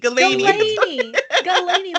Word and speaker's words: Galani: I call him Mr. Galini on stream, which I was told today was wrong. It's Galini? What is it? Galani, like Delaney.